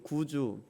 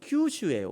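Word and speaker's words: 九州: 9구자에다가 고울주에 이렇게 구주, 이렇게 일본어로는 큐슈예요. 원래 큐슈 이렇게 읽는데, 저 교회는 목사님이 그냥 구주가 좋다. 우리는 구주 그리스도를 믿으니까 우리는 이거를 구주로, 한국인 발음이죠.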